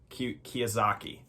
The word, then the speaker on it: Kiyosaki: Kiyosaki, that's how you say it.